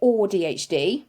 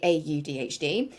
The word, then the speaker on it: AuDHD: Because some people like to say or DHD, which I find a little bit odd, like for myself, but I personally just will say AUDHD.